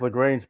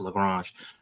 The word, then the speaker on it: Lagrange: Well, the whole point of leaving it there is because when you're in this Lagrange point, I'm sorry, I'm from Louisiana. It's pronounced Lagrange.